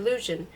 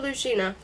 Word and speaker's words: Luzhin: by my creature, Grandmaster Luzhin. The name rhymes with illusion, if pronounced thickly enough to deepen the U into an oo.